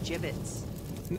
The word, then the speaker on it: gibbets: here hey look Avery had some gibbets left over jibbitz what it's pronounced jibbitz are you sure yeah